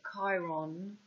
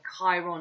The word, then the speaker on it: Chiron: the k that's why chiron is ch but it's pronounced k and they want to